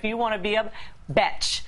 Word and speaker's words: Betch: want to be a bch which rhymes with fetch not to be confused